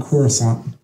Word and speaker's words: Coruscant: we all know okay it's pronounced kashyyyk and coruscant hopefully it's spelled that way too perfect if you guys